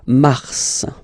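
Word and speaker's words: mars: so in a way it's an exception because normally final s is not pronounced in French okay okay we've got some exceptions and this one is one of them so Mar pronounce the final s mar mar okay then ail ail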